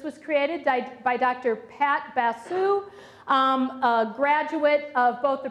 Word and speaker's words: Basu: Pat Basu. Is that how you pronounce it?